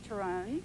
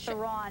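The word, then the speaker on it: Theron: of course is chares terrone yes teron as she's changed her name from the South African pronunciation oh didn't know that tell me more uh that's actually how you say her last name and off foron she's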